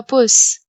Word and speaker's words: Bus: Bus is der Bus. Here bus has the same spelling in German as in English, but it is pronounced as Bus. Der Bus.